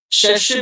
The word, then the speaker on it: cherche: CH is pronounced as sh, so it will be cherche.